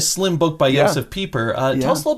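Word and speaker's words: Pieper: i've read his name but i'm afraid to pronounce his name uh well you joseph peeper i think that's okay that is the technically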